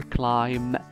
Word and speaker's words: climb: Remember, climb, the B is silent.